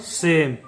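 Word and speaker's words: same: Next देखिए, एस का उच्चारण होता है स, ए का उच्चारण होगा ए, एम का उच्चारण होगा म, और ई का कोई उच्चारण नहीं होगा, इसलिए इसे पढ़ेंगे हम लोग सेम।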